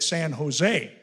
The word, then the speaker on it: San Jose: i'm sorry son but you don't pronounce the j in california the j is silent that san jose how long are you